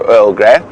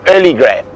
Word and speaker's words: Earl Grey: with the pronunciation of Earl Grey, so it was known to us for many years and still quite often called by us, instead of Earl Grey, it's called Early Grey.